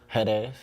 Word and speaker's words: Jerez: I just came back from Jerez, Mexico about a month ago. So how's that pronounced? Jerez. Oh, because it's spelled with a J.